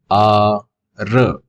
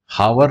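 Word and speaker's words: hour: हार नहीं बोलते, हार, हावर नहीं बोलते, कई लोग हावर बोलते हैं, हावर, तो हावर रॉन्ग हो जाएगा ना। क्या हो जाएगा, यहाँ पे एच साइलेंट है तो क्या बोलेंगे, आर, एन आर, इसीलिए यहाँ पे एन आया।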